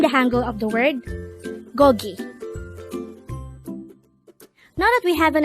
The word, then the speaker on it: 고기: Gogi. Gogi. This is pronounced as a two-syllable word. The first syllable is go, the second syllable is gi.